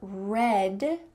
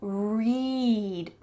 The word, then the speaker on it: read: Notice that both of these words are spelled R-E-A-D, but the first one is in the past tense. The best book you have ever read is the pronunciation.